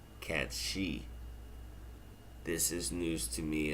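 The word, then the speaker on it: Cait Sith: Along with Kate Sith is spelled CAIT hyphen SITH, and that is actually pronounced Katshi.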